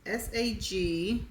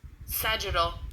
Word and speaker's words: sagittal: Okay, the next word is SAGITTAL. And this is how it's pronounced? Sagittal.